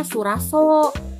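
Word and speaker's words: Sulwhasoo: Aneh sebenarnya, kayak ya emang di websitenya itu kalau nggak salah bilangnya Suraso, cuman di sini kalau aku bacanya sih Sulwaso, ya gitulah ya.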